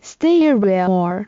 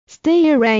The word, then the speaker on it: STAYREAL: 身为主理人的阿信表示， Stereoor 的品牌名延伸自 Stereo 的发音与含义，